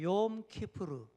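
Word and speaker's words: Yom Kippur: 욤 키푸르. 예, 좀 낯선 발음이죠.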